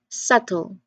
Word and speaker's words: subtle: There's no b, there's no b sound there.